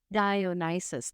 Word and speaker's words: Dionysus: Um, Dionysus. Dionysus, thank you.